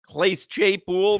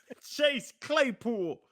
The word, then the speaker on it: Chase Claypool: That was funny because you go, Clase Chaypool. Clase. Chase Claypool.